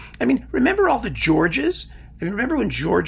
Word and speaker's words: Georg: All of a sudden, everyone had to know that it was Georg and not George, or George Zell, Georg Zell.